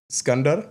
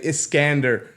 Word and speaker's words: Skander: know not everybody everybody my name is skander that's my Arabic name from back home but here in Canada not everybody knows how to say it I actually get very very frustrated when people say iscander you know so Alexander